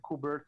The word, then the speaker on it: Kubert: And they both attended the Kubert School or Kubert School. I don't know how to pronounce that correctly. Yes, Kubert.